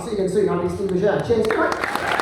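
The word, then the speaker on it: Bugeja: My name is Steve Bouger. My surname is very difficult to spell. Bugger is how you spell it. If I wouldn't laugh at that, I'm fucking furious. Bugger, B-U-G-E-J-A, give us a follow.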